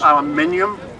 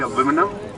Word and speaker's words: aluminium: they put aluminium, as the Americans say aluminum.